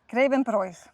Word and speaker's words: Grevenbroich: Grevenbroich. Nein, hier haben wir es jetzt auch wieder mit einem Dehnungsvokal zu tun. Das I ist ein Dehnungs-I und deswegen wird das O davor lang ausgesprochen.